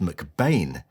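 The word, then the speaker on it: McBean: Welsh photographer Angus MacBean, actually pronounced McBain, had cut his teeth in West End theatres in the early 1930s.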